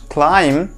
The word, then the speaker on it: climb: i just told that the letter b is silent we have to drop it while pronouncing the word climb i'll be bringing one